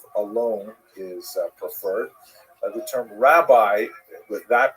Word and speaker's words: rabbi: Um and uh in Israel the the term used in late antiquity was rebi that's the actual pronunciation which means my greatness my uh largeness